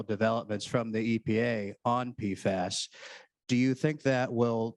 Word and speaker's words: PFAS: unclear uh absolutely uh I've always pronounced a p fuss but thank you I now know that it's pfest and touching on the recent Federal developments from the EPA on pfas do you think that